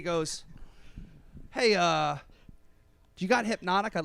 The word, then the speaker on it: Hypnotique: Hypnotique, dude. Have Yeah, you ever heard of Hypnotique. Hypnotique? I haven't. No. Okay. Wait. Is it hypnotic? Yeah. Oh, yes, that's it. I've been saying it wrong all these years.